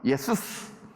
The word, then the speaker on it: 예수스: 이 예슈아를 헬라식으로 발음하면 예수스, 영어로는 Jesus, 한국식으로 하면은 예수.